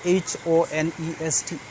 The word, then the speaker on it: honest: will be wrong because some of the words like honest spelling is h-o-n-e-s-t but we do not pronounce h and it becomes honest so i cannot use